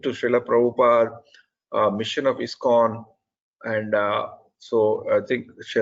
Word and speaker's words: ISKCON: And when you pronounce ISKCON, Mataji, I think you are making a slight pronunciation mistake. You are saying ISKCON. It is ISKCON, in International Society for Krishna Consciousness.